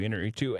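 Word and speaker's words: Iñárritu: forget how to pronounce his last name. Inarritu? Yes, thank you, Inarritu.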